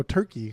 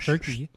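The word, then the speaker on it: Türkiye: It's like T U R K A Y E. It's like I Y E or something, but it's still pronounced Turkey.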